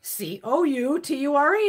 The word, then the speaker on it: Couture: I go, that's not how you pronounce it. Well, it's the American way of pronouncing it. He goes, that's the American way. I said, that ain't the fucking no. I said, it's Couture or Couture. Couture. Couture. I said, it's fucking French.